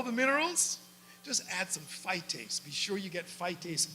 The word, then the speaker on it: phytase: And it's an easy, easy word to pronounce. It's called phytase. Say that with me, phytase.